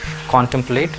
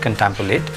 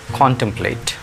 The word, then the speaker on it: contemplate: The right pronunciation is contemplate. Many people pronounce it contemplate, but the right one is contemplate.